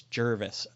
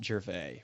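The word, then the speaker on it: Gervais: he says he says it's Jervis not jervy which I Jervis yeah Jervis yes which it was kind of a funny there are it's like bue or poucher or bercher there are a million pronunciations of g r v a i s how does he do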